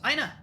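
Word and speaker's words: Aena: Aina there it is there's actually a pronunciation guide Aina a-e-n-a I know I kept cleansing I kept flinching whenever you said Anna I was like oh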